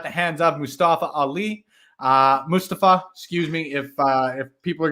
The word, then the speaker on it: Mustafa: Mustafa, excuse me, if people are going to be pronouncing his name properly, I should also get on top of that, rightfully so.